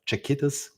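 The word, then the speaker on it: Czechitas: Please correct me if I don't pronounce it correctly. I don't want to butcher that. Chiquitas.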